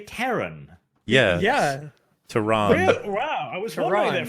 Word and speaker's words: Terran: is ruled by a military government called the tehran federation or it's like when people pronounce it z-lot instead of zealots ew wait is he trying to say terran yeah yeah toronto wow there for a moment